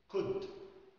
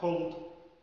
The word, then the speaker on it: could: كلمة could، could لو قلناها cold بقت بارد أو برد.